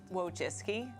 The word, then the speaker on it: Wojcicki: The Wikipedia pronunciation, wrong. And even Susan admits she doesn't exactly know how to say it. W jaki sposób wymawiasz swoje nazwisko? Wojcicki. Ale zdaję sobie sprawę, że w Polsce wymawia się je inaczej.